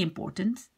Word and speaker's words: important: So you have the un in the beginning and you have the en at the end.